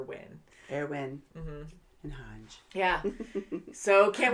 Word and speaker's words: Erwin: i'll just say rhys and then airwin because it's spelt almost like armin so we've been saying like armin or our win but i think it's air win air win and hunch yeah so